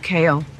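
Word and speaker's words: Cahill: My last name is spelled C-A-H-I-L-L, but it's pronounced Kale, like vegetables.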